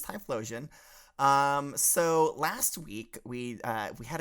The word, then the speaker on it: Typhlosion: It's Typhlosion. There's an H in there. Yeah, it's got flow like me. Got it. You're just asking for it, aren't you? But yes, it's Typhlosion.